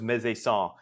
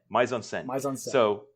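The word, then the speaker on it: mise-en-scène: everyone uh you referred to this before as mesan uh one of our listeners to the podcast who teaches French has corrected us and said that the pronunciation of that is actually M on M on so okay M on S so the M on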